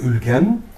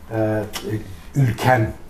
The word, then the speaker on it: Ülgen: God Ülken, sometimes called "Ülgen", pronounced softer in Anatolia whereas in Central Asia Ülgen is pronounced as Ülken in Central Asia.